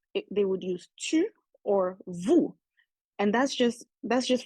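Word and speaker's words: vous: the s in French the Vu is spelled v o u s but in the CRS where uh they keep the Vu they would just drop the S so how you hear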